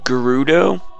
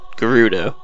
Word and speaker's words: Gerudo: No reason why they make that G a J sound for an entire like type of people.